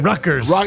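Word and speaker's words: Rutgers: favorite yeah they to Ruckers Ruckers the t is silent by the way Ruckers yes ruers Ruckers Ruck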